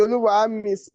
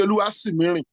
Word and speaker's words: Oluwasimiri: I pronounce the Oluwami wrongly, right? It's actually Oluwasimiri.